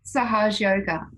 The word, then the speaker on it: Sahaja Yoga: So the type of meditation we're doing today, Lisa, is, if I pronounce this right, it's called Sahaja Yoga Meditation? Yeah, Sahaj Yoga, that's it.